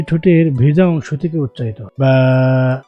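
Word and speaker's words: باء: হরফ কাকে বলে?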